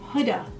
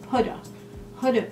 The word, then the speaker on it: Huda: It's pronounced HUDA, like H-O-O-D-A. HUDA Beauty.